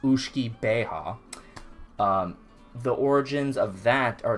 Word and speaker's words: uisge beatha: but it comes from a Gaelic term called Uisce Beatha. That's how you pronounce it. It's spelled Uisge Beatha, 2 words. Uisge, 1 word. Beatha, 2nd word. And it's pronounced Uisce Beatha.